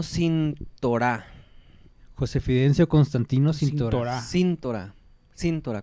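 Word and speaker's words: Síntora: Cintorá con acento en la I.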